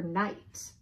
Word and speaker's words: knight: before eating fajitas in Juarez k is for night the noble knights knife nicked the knaves me